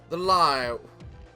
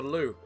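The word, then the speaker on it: Liu: The Lao. I need a fucking voice. It is actually pronounced the Lou. For those of you who don't know, that's like an English phrase for the toilet.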